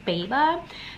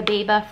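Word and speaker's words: Béaba: This is the, I think it's pronounced Beaba, the Beaba food processor, food maker.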